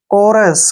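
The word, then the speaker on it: chorus: ओ आर आया है जब भी सीच के बाद र आता है तो सीच को प्रोनाउंस क करते हैं इसलिए हमने इसको कोरस पढ़ा है देखिए कोरल कोरल में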